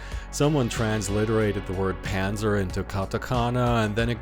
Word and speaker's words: Panzer: katakana that google actually translates to panzer or panza as the proper german pronunciation goes in other words the